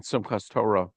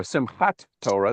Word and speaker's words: Simchat Torah: repressed Soviet Jewry on Simchas Torah or Simchat Torah, depending on whether you pronounce uh, the taf without a dagesh as a T or an S.